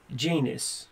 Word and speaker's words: Janus: give me an example janus rhymes with anus who did you license